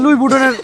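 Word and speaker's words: Louis Vuitton: আমার সাথে দুবাই চল, দুবাই মলে নিয়ে তোর লুই বুটানের পাশে একটা কাপড়ের শপ দিব। আরে বেটা, ওটার উচ্চারণ লুই বুটান না, লুই বুটন।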